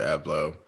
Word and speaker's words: Abloh: We all know like this past Sunday, Virgil Abloh. This is my question. I pronounced his last name all the way wrong. How do you correctly pronounce it? You said it right.